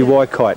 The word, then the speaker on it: Waikite: It must be Waikite, that's how they say it, eh?